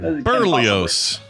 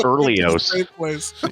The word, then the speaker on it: Berlioz: Berlioz. I love it. It's a great. It's absolutely. It's just a nutritious part of a balanced breakfast. It's pronounced Berlioz.